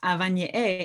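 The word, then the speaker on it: avañe'ẽ: different kind of perspectives so avani a actually means which is just one of the most amazing words because it's so fun to say two nasals big glottal stop in the middle it means language like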